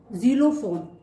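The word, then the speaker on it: xylophone: X pronunciation है इक्स, इक्स। Example ज़ीलोफोन, ज़ीलोफोन means ज़ाइलोफोन, जो कि एक बजाने वाला इंस्ट्रूमेंट है।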